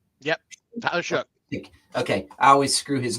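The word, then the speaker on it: Shough: How do you pronounce his name? Shook. Shook. Yep. Tyler Shook.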